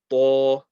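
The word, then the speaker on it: ط: This next letter here is the tip of the tongue touching between the gums and the top teeth. Lots of pressure again. To.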